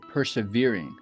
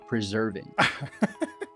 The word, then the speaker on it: preserving: a moment in time you said persevering The Writer's emotions but it's preserving sorry preserving preserving M and you said the other words so persevering is a completely different word with a different meaning it's completely different word